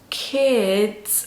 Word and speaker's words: kids: 그런데 여기서 살짝 디귿 받침을 넣어주셔서 kids 하셔야 돼요.